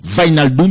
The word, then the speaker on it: Wijnaldum: Donc, W a prononcé comme V. Wijnaldum, il néglige J1, qui dans WIJ1.